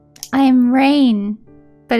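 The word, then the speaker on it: Raen: my name uh raven all right i am reign but it's spelled like raven without the without the v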